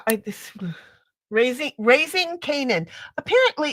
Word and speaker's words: Kanan: the k a n a an however you pronounce that Kanan Kanan okay so that's the name of the